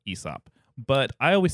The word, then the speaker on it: Aesop: and a lot of people wait is it asop or ESOP I recently learned that is pronounced ESOP but I always said asop because it starts with an A that's what